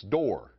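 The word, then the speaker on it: Dorr: Rhymes with war and roar, it's Door. Thomas Wilson Door.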